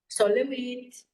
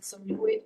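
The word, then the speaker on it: Sol LeWitt: He looked a lot to Robert Morris, to Donald Judd, to Solowit. Many people pronounce it Solowit, but I think that Solowit is the right way to pronounce it.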